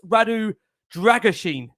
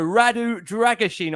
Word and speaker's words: Radu Drăgușin: Yes, another pronunciation of this bloke's name for the 150th time. I've now been informed it's Radu Dragusin. There you go, Radu Dragusin, I understand.